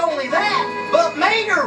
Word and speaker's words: Mater: not only that but mater rhymes with tater too come on let's